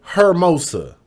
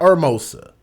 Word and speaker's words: Hermosa: Even the news people said Hermosa, not Hermosa. So I thought I'd throw that out there, so I'm assuming that's how you pronounce that.